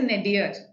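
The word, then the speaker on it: nadir: is the opposite yes the pronunciation here is nedir okay ah and this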